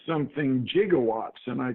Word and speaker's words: gigawatts: of mine said something gigawatts and I called him and I said in science we prefer to say gigawatts with what you would call in linguistics a hard G and this led to